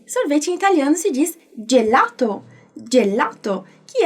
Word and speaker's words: gelato: Então, repara como eu pronunciei gelato, eu não falei gelato, ok? É gelato, como se fosse um D e um J ali junto, né?